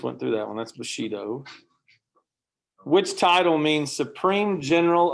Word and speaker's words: bushido: we got that one in your nose then bushido yeah there you go bushido what code of behavior let's see we just went through that one that's bushido which title means supreme general of the emperor's